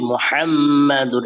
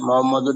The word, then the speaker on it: মুহাম্মাদুর: كلمة طيبة بسم الله الرحمن الرحيم لا إله إلا الله محمد رسول الله হাতে মুহাম্মাদুর, এটা স্পষ্ট হতে হবে, মোহাম্মদুর না বলে মুহাম্মাদুর রাসূলুল্লাহ।